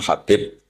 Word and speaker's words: Habib: Ada yang nulis Abi Abdurrahman Habib Asulami. Itu di harakatnya kitab itu ada yang nulis khubab. L yang benar. Oh nggih. Yang benar itu bacanya habib.